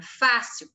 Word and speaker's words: fácil: No caso, a palavra fácil, a sílaba mais forte é Fá.